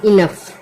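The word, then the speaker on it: enough: अब इसको पढ़ते हैं इनफ।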